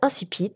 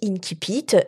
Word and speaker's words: incipit: ou incipit alors moi je te propose de le prononcer à la française et de dire incipit comme ça ça met tout le monde d'accord si tu as envie fiac de le prononcer sous sa forme latinistes avec l'essai qui se prononce ce que dit inti pitt et si tu veux le franciser et bien ce moment là tu peux dire insi pitt mais j'ai été très